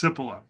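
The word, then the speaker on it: Cipolla: But in the 1970s, there was an Italian there was an Italian economic historian named Carlo I think his last name is pronounced Sippila and he developed the five laws of human stupidity.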